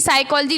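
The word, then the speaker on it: psychology: है है ना पी साइकोलॉजी लिखते हो नाना तो साइकोलॉजी भी पी से स्टार्ट होता है पी यहां पर साइलेंट होता है न्यूमोनिया जो है इसमें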